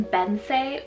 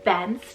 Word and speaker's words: Bence: Next up, I have the name Bence or Bence, depending on where you are in the world.